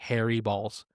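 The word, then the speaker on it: Harry Baals: And to be clear, he himself is the one who said, yes, that is the correct pronunciation of my name. It is literally Harry Balls. It's spelled Baals.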